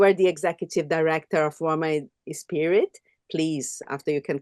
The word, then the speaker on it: Roemah: Budshi, let me introduce yourself a little bit, but you are the executive director of Roemah Inspirit. Please, after you can correct my pronunciation. It's Roemah.